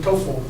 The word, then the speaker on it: TOEFL: as opposed to ESL this is a pronounceable word people say oh I'm taking tofl but you don't ever